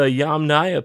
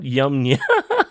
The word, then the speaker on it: Yamnaya: Okay, so the Yamnaya people, not Yamnya.